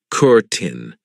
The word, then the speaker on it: curtain: careful of the pronunciation I know it looks like curtain but we pronounce it Curtin and this is something